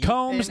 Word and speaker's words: Combs: And let's see what Combs, not Coombs, is able to do here.